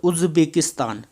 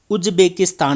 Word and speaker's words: उज़्बेकिस्तान: से किया जाता है जैसे उज्बेकिस्तान उज्बेकिस्तान नहीं उज़्बेकिस्तान सम ए गजल हम